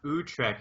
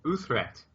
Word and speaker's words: Utrecht: I recently learned it's not Utrecht. It's like Utrecht.